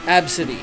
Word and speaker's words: Abcde: And they have a student in their class, and their name is literally spelled ABCD, and it's pronounced Absidy.